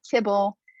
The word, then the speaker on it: tibble: class that shows up tbl and so they pronounce that tibble that's really the same